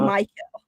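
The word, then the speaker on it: Mykel: Team after the after they did all the draft stuff, they were saying Michael.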